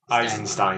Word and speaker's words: Eisenstein: It's literally Einstein with an extra s. That's all it is. Yeah. Eisenstein. Yeah. There's an extra syllable in there.